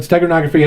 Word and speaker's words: steganography: So think about Stegosaurus geography. Wait, is Stegosaurus a dinosaur? Yes. Okay. But steganography has nothing to do with dinosaurs. It's just how to say the word.